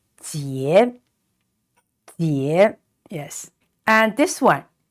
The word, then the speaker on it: 结: And the vowel is IE. It's pronounced ye, and with a rising tone, so it's ye. And the letter J is pronounced ji, so together it is 结, yes.